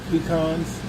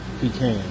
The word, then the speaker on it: pecan: I think if you're further south, you probably pronounce it peans probably. So, and if you're further north, you you probably pronounce it pecans.